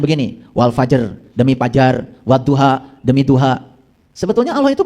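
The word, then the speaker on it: وَالضُّحَى: Wadduha ya. Cara bacanya begitu do ya. Jadi wadduha han-nya ha kecil. Wadduha itu bacanya dua harakat ya. Wah jangan salah. Itu ada tasdid. Jadi jangan waduha wadduha itu ada tasdid.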